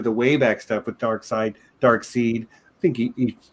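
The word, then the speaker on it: Darkseid: you said um because you called a dark seed you you read that name many many many times before you ever heard it pronounced out loud yeah in general i think it's dark side but i think i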